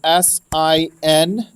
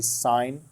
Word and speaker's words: sine: how we say it everybody wants to say sin but we don't say that as a habit because it's actually sign of this weird symbol